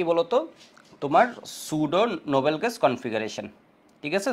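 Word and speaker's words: pseudo: configuration Nobel gas configuration should ওইটা মনে হয় তোমার ওই যে বায়োলজিতে পড়ছো তাই না বায়োলজিতে পড়ছো এভাবে উচ্চারণ করে সুডো ঠিক আছে সুডো নোবেল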